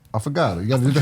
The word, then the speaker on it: affogato: And you said it wrong. It's affogato.